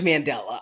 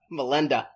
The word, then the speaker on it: Mandela: I thought he might have named his kid after spelled like. It is Mandela. I put in my notes. Melind Melinda. Melinda.